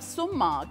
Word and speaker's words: sumac: One customer walked in, he said, oh, using poison sumac.